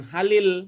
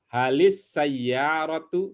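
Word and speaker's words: هل السيارة: baik jadi Sin itu Sin itu termasuk asyamsiah jadi bacanya Ya bukan Halil ya bukan Halis Halis Iya betul lamnya tak berbunyi langsung ya luluh langsung ke sinnya Halis sayyaratu gitu coba dipraktikkan ya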